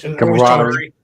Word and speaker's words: camaraderie: How you pronounce that word? Camaraderie.